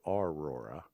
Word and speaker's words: Aurora: Now, the folks in Aurora pronounce it Aurora.